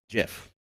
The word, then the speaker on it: GIF: the other side so the only argument that's really left is what did the creator of the format call it and the creator of the format says it's jeff oh that's the only